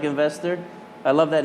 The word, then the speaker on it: NVSTR: the company's called investor it's spelled NV STR which we love NV STR yep and NV SDR comm is the website which is such an eight thing zero vowels but it sounds like investor looks like investor I